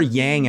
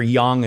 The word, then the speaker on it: Yang: to create even more sun energy even more Yang energy or Yang as it's actually pronounced wow yeah so there's different Dynamics but